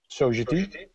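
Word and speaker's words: Sogeti: For the past 12 years, I've been working for Sogedi, which in Holland is actually pronounced the French way, Sogedi.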